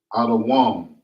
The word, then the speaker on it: Adawam: And how you pronounce that is Adawam.